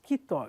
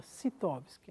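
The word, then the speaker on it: Scitovsky: é esse indivíduo chamado qe tops que parece que é com a pronúncia correta é alguma coisa como isso kitó vez que a gente fala em geralmente em brasil a gente fala se tops que né mas eu fui num seminário aí eu vi uma moça que pronunciava mais corretamente estou tentando reproduzir bom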